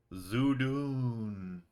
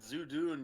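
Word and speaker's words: Zhudun: was a weird a weird ominous voice says zoodoon yes that's what i said zoo dune yes you do how do you spell that zeus did the weirdo z-h-u-d-u-n yeah so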